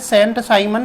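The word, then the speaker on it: Saint-Simon: sign भी कहते हैं सेंड उच्चारण होता है सेंट साइमन या संत साइमन चार्ल्स कुरियर दार्शनिक अराजकता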